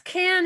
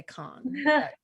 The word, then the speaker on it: Cannes: been arguments for you it's can is just accepted and if you want to be a snob you can say kong yeah i got lucky